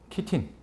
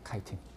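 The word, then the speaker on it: chitin: 셀룰로스를 만들어요 그다음에 마지막에 키틴 또는 영어 발음은 카이틴이에요 카이틴 이거는 영덕 대게 좋아요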